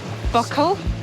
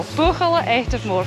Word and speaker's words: Buachaille Etive Mor: how you pronounce it it's not buckle or buckle or burgle i think it's a spur color and i've been reliably informed by susan who is a native gaelic speaker but that's how you pronounce it so vocal active more for those of you that struggle with that that's how you say it do we've